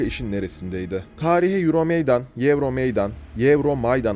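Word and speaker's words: Euromeydan: neresindeydi tarihe eurom Meydan Euro Meydan eurom maydan Aslında en doğru telaffuz edilişi de Euro Meydan olarak telaffuz edeceğim ben videonun devamında tarihe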